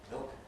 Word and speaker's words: milk: Again, it's important not to intrude a vowel, not to say but milk or one syllable milk.